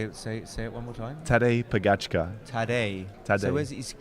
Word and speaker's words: Pogačar: Well, how do you pronounce his name? Tadej Pogačar.